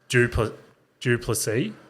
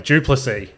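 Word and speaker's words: Du Plessis: Anyway, that guy there, I think you say his name is Duplessis.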